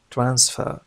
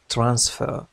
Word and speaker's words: transfer: يهدف إلى منع نقل، لاحظ نطق هذه الكلمة transfer لا نقول transfer.